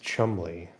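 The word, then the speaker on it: Cholmondeley: Yeah, there's Olamondale, pronounced Chumley.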